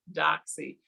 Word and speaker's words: Doxy: I am Doxy, rhymes with Foxy, also known as Foxy Doxy.